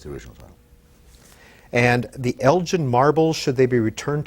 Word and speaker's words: Elgin: And the Elgin Marbles, Should They Be Returned to Greece? What is this very quickly about? It's actually Elgin, it's a hard G.